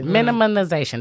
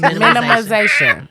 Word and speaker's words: minimization: know what I'm saying minimalization that extra n feels so weird but um supposed to be in there oh I'm saying it wrong minimization minimization minimalization minimalization minimal it's the L that wasn't there minimalization yeah but anyway